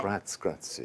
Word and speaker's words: grazie: Grazie. You have Grazie to teach me a little better pronunciation.